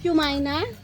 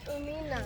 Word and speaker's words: Umina: Not yumina. No, tito said yumina. It's umina.